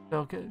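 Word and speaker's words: Delcatty: He has Delicati? Delicati. Yeah, you pronounced something right.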